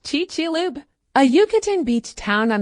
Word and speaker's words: Chicxulub: More specifically, the direct hit was in the town now known as Chicxulub, pronounced Chichilub, a Yucatan beach town on the Gulf of Mexico.